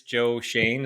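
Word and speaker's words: Joe Schoen: got obviously the Giants Joe Shane is how you pronounce his name yep that's the winner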